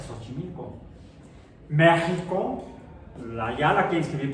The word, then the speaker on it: Xochimilco: Xochimilco es con S, bueno, suena como si fuera ese, Xochimilco.